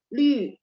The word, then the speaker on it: Lü: Kalau LU itu lu. Nah, ini kalau ini memang cara bacanya memang berbeda ya. Lü sama lu, tapi tetap tanda nadanya di U atau di U ya, sama.